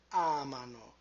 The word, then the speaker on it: amano: Pay attention to the position of the stress with loro. Noi amiamo, voi amate, and then loro amano. So we move the stress to the left by one syllable.